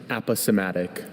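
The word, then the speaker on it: aposematic: Are there any alternate pronunciations? Just the one. Aposmatic.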